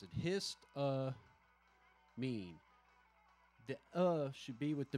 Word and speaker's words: histamine: See, now when you keep it together, because how do they pronounce it? Histamine.